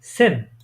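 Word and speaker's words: zehn: সেটটাকে আমি যদি একটা উদাহরণ দিই, সেন। এটা উচ্চারণ কি হবে তাহলে?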